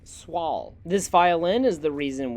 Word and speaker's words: Soil: While it looks like it says soil, it is actually pronounced Swall.